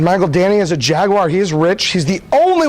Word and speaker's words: Jaguar: one day get a Jaguar because it is a three-syllable word if you don't know